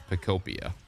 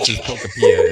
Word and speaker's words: Pokopia: could be right, but every other person I've ever heard pronounce the game, it's Pokopia. But your guys' Pokepia is kind of adorable in a weird way. Pokopia flows off the tongue, I think, a little bit better and sounds.